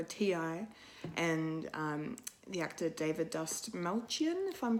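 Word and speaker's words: Dastmalchian: and the actor David Dust Malchian, if I'm pronouncing it correctly, Dust Malchian.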